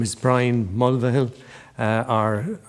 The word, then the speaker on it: Mulvihill: If you're up in Roscommon, they pronounce the V in the name. They'd say V-Hill, Mulvihill, whereas anyone else, it's Mulvihill, But my dad is from Roscommon.